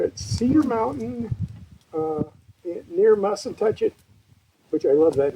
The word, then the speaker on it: Mussentuchit: It's spelled mustn't touch it only. It's like cowboy spelling. M U S E N T U C H I T.